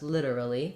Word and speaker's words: literally: litera Lee um first syllable stress literally this T is a flap literally um and I